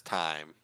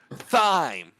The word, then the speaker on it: thyme: bit of thyme I'm I refuse to say it as time the rules I do not care who calls me stupid oh the rules of the English State word is called thyme and someone's gonna be